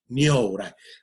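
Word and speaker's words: 如来: That's a Sanskrit word, Tathagata, which was then translated Nyorai, right, by the Chinese. And the pronunciation in Japan is Nyorai.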